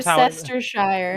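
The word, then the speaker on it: Worcestershire: consists of toast toast cheese sauce milk and worcestersauce and you know uh if you don't know what what the sauce is i'm putting it in the chats it's more sister shire yeah we're chester worcester as before that's true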